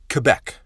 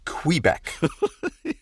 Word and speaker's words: Quebec: matthieu right out of the gate y'all it's pronounced quebec not quebec technically quebec is one of the ten